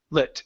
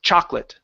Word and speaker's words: chocolate: that O Okay so the O in chocolate is not pronounced the second o that is the first one is so it's Chate chocolate chocolate good one one more